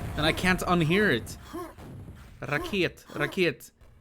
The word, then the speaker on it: Raket: Just pronounced like you usually do. Raket.